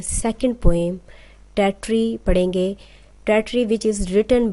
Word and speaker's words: Tartary: Dear students, जो title है poem का उसकी करेक्ट प्रोनाउंसिएशन टेट्री है। सम टीचर्स इसको तातारी भी पढ़ते हैं, बट the correct pronunciation of this word is टेट्री।